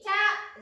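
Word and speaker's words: キャ: タカナで書くとき、キャですね。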